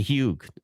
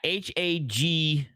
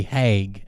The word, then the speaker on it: Hague: And the Hugue, I think it's pronounced the Hugue or whatever. I don't know. Anyways, yeah, Hague. That's it. Oh, the Hague, Hague. Yeah, that's how it's pronounced.